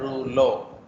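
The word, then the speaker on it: rouleau: Okay, this is a French word, तो इसका pronunciation है रूलो।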